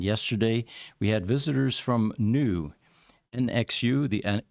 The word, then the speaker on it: NXU: we had visitors from new nxu the the x is silent and the x is actually an infinity symbol I found out oh okay but uh it is pronounced new and uh these are